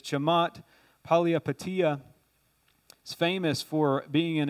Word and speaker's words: Chamath Palihapitiya: One of the head executives of Facebook, and this guy was from Sri Lanka, so his name's hard to pronounce, but it's Chamath Palihapitiya.